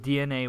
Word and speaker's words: DeNA: They bought DNA, pronounced DENA, or no, spelt DENA, but pronounced DNA.